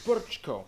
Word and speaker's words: Brčko: I know, it looks like Brčko. It's pronounced Brčko. That was a quadruple diphthong.